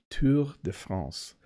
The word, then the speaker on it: Tour de France: cycling course like the Tour de France or Tour de France sorry to that's how they say it here but Tu de France you'd be able to